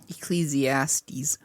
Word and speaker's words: Ecclesiastes: Then over here in Ecclesiastics, Ecclesiastes, I've heard it pronounced both ways.